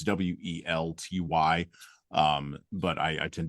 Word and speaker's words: Welty: Um, and I'm going to keep probably mispronouncing her name. It's Welt Ty.